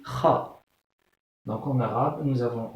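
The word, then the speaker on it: خ: Donc, comment les Espagnols prononcent cette lettre? C'est Kha.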